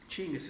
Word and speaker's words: Chinggis: Genghis Khan or Genghis Khan, Chinggis Khan, if you want to see, I'm pretty well educated. Chinggis is actually how you say his name, but I digress.